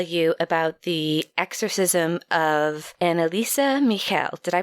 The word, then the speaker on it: Anneliese Michel: going to tell you about the exorcism of annalisa Michel did I pronounce that right you know it's pretty much